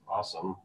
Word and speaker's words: OSSM: A bunch of the Metasploit crew from Rapid7 will be there too, and our open source security meetup, also known as OSSM, or pronounced awesome, this year we'll be hosting what we're calling open source office hours.